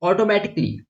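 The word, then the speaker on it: automatically: Okay, जैसे कि ऑटोमेटिकली, यहां पर देखो ए साइलेंट है।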